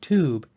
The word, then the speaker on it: tube: and cube is that Cube takes the U version of the long sound while tube takes the o sound only if I were